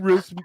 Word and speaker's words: Routh: I said how much did Brandon Routh's movie make? Ralph rhymes with South. Ralph.